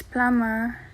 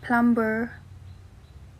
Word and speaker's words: plumber: you be here ah it's plummer not plumber hmm i feel like